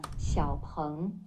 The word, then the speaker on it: XPeng: Xiaoang.